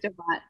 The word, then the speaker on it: Brestovac: So please pronounce the title of the chapter that I read from again. Brestovac.